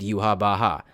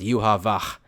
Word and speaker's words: Yhwach: just how they pronounce yuav because Japanese doesn't have a v sound nor does it have a h sound you can approximate you